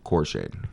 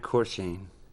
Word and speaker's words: Corshane: Corshade. Corshade? Corshade. Corshade? It sounds like Corchese. There's an N in there. There is? Matt Corshane. Right? That is correct.